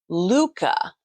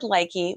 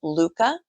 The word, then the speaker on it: Lykke: um this is the Luca Lu CCA is how it sounds but it's actually spelled l y k ke I would have said likey but it's actually pronounced Luca it actually means uh